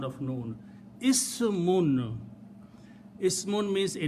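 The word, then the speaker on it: اسم: When I stop, I can pronounce Ism, but if I don't stop, this full word is Ismun, which means name.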